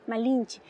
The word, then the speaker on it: Malinche: En Oluta se dice Malinche con i malinchi.